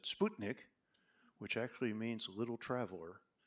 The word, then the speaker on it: Sputnik: Of course, we pronounce it Sputnik. In Russia, we pronounce it Sputnik, which actually means little traveler in Russian.